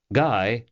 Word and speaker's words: Guy: Max literally ran into guy Nichols who was just emerging from inside guy rhymes with high as he had told